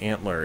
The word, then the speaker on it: ANTLR: attempt at basically defining the kotlin language using antler syntax if you're not familiar with antler it is a very popular parser generator so